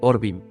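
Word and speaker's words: עורבים: de igual manera pero tienen distinta pronunciación cuervos orvin y árabes harbín también se argumenta que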